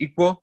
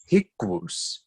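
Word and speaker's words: i-qo: So did they pronounce it as equal? No, they did not. They pronounced it as hikwus. Completely different pronunciation.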